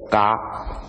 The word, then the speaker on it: 伽: 这个就是释迦牟尼佛那个，假如真正正式的发音是 “ 嘎 ”。